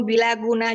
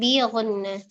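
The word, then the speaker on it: بغنة: Mim yaitu termasuk ketemu mim gom bila guna juga. Bukan bila tapi bi. Itu kan bi guna.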